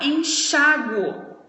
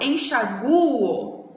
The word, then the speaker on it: enxáguo: pronúncia então por exemplo deixa eu falar enxáguo a pronúncia tá no chá certo então aí tem acento agora se eu falo enxaguo não tem acento porque a pronúncia tá no u então não te atento nem no u Ok então depende nesse caso